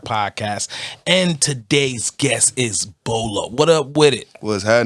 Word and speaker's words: Bo Lo: This is Shots Fired Podcast, and today's guest is Bolo. What up with it? What's happening? What's happening? Now, look, I do everybody's saying. I always ask, am I pronouncing it right? Yes, sir. Bolo.